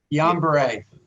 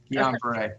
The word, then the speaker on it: Guillain-Barré: Guillain-Barré. Guillain-Barré, yeah.